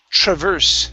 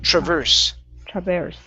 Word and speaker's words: traverse: go good and your last one is traverse stress on the end traverse all right very good